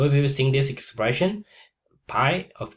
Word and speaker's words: pi: In English, it's pi but in Greek, it's pi.